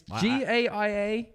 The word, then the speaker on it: Gaia: I can't pronounce the fucking thing. Gaia. Is that? It's Gaia.